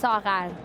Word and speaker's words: Sarar: It's pronounced Sarar. It's a bit difficult to say, so I go by Sarah.